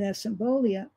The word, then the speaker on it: asymbolia: How does someone experiencing, I don't know if I can pronounce it, asymbolia?